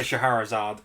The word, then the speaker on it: Scheherazade: I cannot pronounce this character's name. Say hello What? to Scheherazade. Oh, Shahrazad. Yeah, Scheherazade.